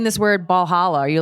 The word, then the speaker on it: Valhalla: Like they're like, no, it's Valhalla. And I was pronouncing it wrong. They're like, no, Valhalla.